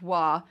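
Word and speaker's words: 倭: different meanings right so this particular character pronounced wah meant uh quote submissive distant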